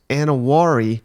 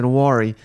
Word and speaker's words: Nwaneri: Defensive lineman Williams Nwaneri, I believe is how you say that name, Shane, just picked